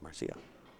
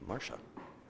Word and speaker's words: Marcia: And I guess it's not pronounced Marcia. It's Marcia.